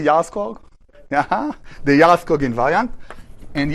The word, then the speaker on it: Jarlskog: She's from Sweden, so we start with J, but you pronounce it with Ya, as far as I know.